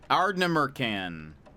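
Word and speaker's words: Ardnamurchan: Ardnamurcan, apparently.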